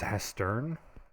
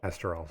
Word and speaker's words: Hesterol: And this is Hestern? Hesterol. Hesterol, sorry. I typed it in chat so you can see how it's spelled.